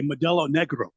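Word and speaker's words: Modelo Negra: I say I I when I order a I I say it right. I say Medel Negro. Yeah. A little R roll on the R. I think helps.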